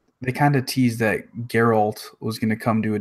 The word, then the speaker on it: Geralt: you say it is a I think it's garel Oh Geralt okay I'm gonna mess that up a bunch yeah anyway it was kind of a they kind of teased that Geralt was gonna come to a different game in